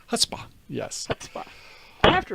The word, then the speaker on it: chutzpah: He says that there is no C in the Oh, pronunciation. that is so true. Where did I... It's Chutzpah. Chutzpah. Chutzpah. Yes. Chutzpah. It's not Schutzpah.